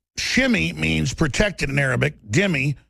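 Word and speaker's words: dhimmi: Dimmy, pronounced dimmy.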